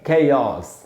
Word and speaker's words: chaos: आपको बता रहा हूँ इसका उच्चारण है कैओस। कैओस ऐसे पढ़ेंगे।